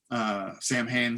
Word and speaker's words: Samhain: It's like Sam Hain. Oh, it's the worst. It's Samhain. Actually, the original Celtic.